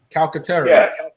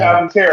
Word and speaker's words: Calcaterra: But I think even you got Stoll and Goddard, and then how do you pronounce Grant's last name? Calcaterra. Yeah. Calcaterra.